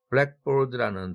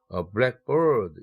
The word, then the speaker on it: blackboard: 구강세는 기본 원칙이 뒤에 있는 내용어에 1강세를 배당하고 앞에 있는 내용어는 2강세로 다운시켜라 한 단계, 이것이 구강세입니다. 그래서 blackboard 이랬을 때에는 검은 판대기, 검은 판 이런 뜻이죠.